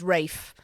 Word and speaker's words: Ralph: So it's a bit like him just going, yeah, it's not Ralph, it's Rafe.